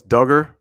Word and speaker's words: Duggar: part of the plate oh it's duggar okay got it duggar i would have guessed it was dugar but it's duggar thank you for the